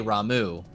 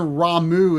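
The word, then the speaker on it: Ramuh: probably how i imagine ramu is probably how you would say it in japanese but i've always said ramu and rama just sounds odd see i've always said rama but you're right 15 said rama well guess what 14 says ramu so that was that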